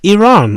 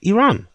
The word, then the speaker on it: Iran: Iran. You don't pronounce a I like an like an I. You pronounce like an E.